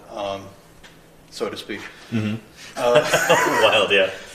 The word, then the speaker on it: Wild: so to speak mhm wild yeah so you pronounce it vild German yeah all the microscopes